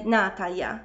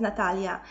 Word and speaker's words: Natalia: Wyobraźmy sobie, że ktoś mówi na mnie Natalia zamiast Natalia, albo ktoś mówi Kuba zamiast Kuba.